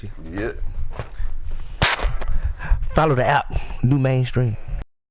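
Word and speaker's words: Nu Mainstream: Make sure you follow New Mainstream. That's spelled NU. Like new, like the kings and queens that you are.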